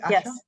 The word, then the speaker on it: Asha: Am I pronouncing correctly, Asha?